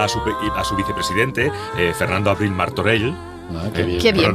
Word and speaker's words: Martorell: Porque le encarga a su vicepresidente, Fernando Abril Martorell. Qué bien pronuncias esa L. Esa L final. Esa L catalana estupenda.